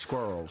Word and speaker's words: squirrels: goodness knows what else squirrels squirrels exactly one syllable one squirrels but it's uh you